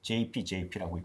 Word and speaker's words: JEPI: JP 모건에서 에코티 주식의 프리미엄에 관련된 어떤 수입 그런 ETF라고 보셔야 되겠는데 JEPI라고 얘기하고 미국에서 뭐 하는 사람들 보통 말할 때 JP라고 발음합니다. 그래서 JP ETF라는 게 있어요.